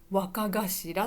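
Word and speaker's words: 若頭: これ読み方、この息子の読み方は若頭って言います。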